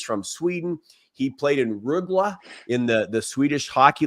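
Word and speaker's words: Rögle: He played in Rugla in the the Swedish Hockey League. Did I Did I pronounce it right? Ruggla.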